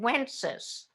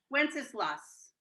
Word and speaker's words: Wenceslas: And My father always said Wences. Helen, what do you say? Wenceslas or Wences? Wenceslas. Oh, Well, that's how many syllables it has. I know. But we said Wences anyhow. and we can even say